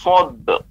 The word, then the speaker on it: sabr: haqqi wa tawasaw bis sabr. Nah, untuk sabar tidak perlu seperti yang khusr ataupun asr, karena ba adalah huruf qalqalah, maka pengucapannya wa tawasaw bis sabr. Sabr langsung cepat dipantulkan.